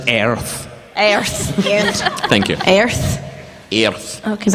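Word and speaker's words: Aries: like is the sign for those attributes it's pronounced arrow Thank You Aires yeah cuz I write mom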